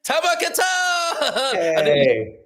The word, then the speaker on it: Tamer Kattan: Please welcome to the stage, Tamar Katan.